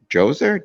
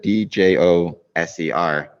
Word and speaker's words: Djoser: The pyramid of, and again, I'm going to get the pronunciation messed up, Djoser, Djoser. Yes, I mean, Djoser.